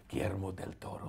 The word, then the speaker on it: Guillermo del Toro: is the new movie from Guillermo del Toro, or if we say it correctly, Guillermo del Toro. Guillermo.